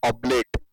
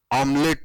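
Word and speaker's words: oblate: Actual shape of earth, real shape of earth is ऑब्लेट, इट is also called as ऑब्लेट, ऑमलेट नहीं, इट is called as ऑब्लेट shape, वो भी LET है शायद, spelling check कर लेते एक बार, ऑब्लेट shape.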